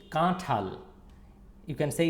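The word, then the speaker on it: কাঁঠাল: So it's kathal. You can see it's written in Bangla and then the Banglish pronunciation and jackfruit. It's kathal. Say with me, kathal. Kathal. It's not to, it's tho.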